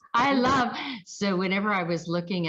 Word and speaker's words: Ilov: How do you say? I love.